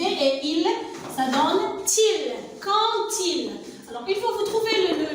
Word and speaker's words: quand il: alors pour ce mot-là, alors le D, ça se prononce T ici. Et je fais la liaison entre le D et il, ça donne til. Quand il.